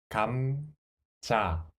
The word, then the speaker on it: 감자: First syllable, ka and mu sound final consonant. So, ka, mu, kam. And next one, 자. So, 감자.